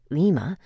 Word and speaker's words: Lima: For example, pronounce Lima with a Spanish accent, Lima.